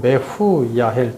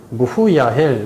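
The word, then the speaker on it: מְחוּיָאֵל: 무후야은 원어로 메후야헬 또는 무후야헬 뭐 같은 발음으로 무메로 두 가지 발음이 나는데 씻다 지우다 제거하다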